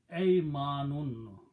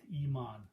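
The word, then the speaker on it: أيمان: Important thing is that make sure that you put a fataha on alif with a hamza. Ay manun. Aymanun means right hands, body parts. Right? This right hand. If you did not pronounce correctly that, and you pronounce kasra, that will be believe or faith, iman, but that's not the word.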